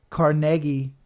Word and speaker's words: Carnegie: but this is actually how you say it Carnegie Museum of Natural History it's not Carnegie it's